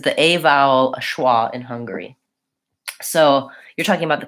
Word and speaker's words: Hungary: as he he loves how to pronounce that first syllable stress Hungary Hungary okay so we also